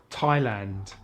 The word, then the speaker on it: Thailand: Sometimes the H is silent in TH, such as Thailand, time, asthma, Thomas, and the Thames, as in the river in London.